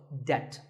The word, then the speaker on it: debt: might find yourself in debt the B is silent in this word so debt if a debt is